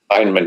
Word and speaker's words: Feynman: Feynman, yeah.